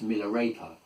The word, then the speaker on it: Milarepa: Um in incidentally, Miller the name well it's actually pronounced in Tibet. It's a Tibetan name. It's actually pronounced Miller raper and it means cottonclad one or one who is clad in cotton.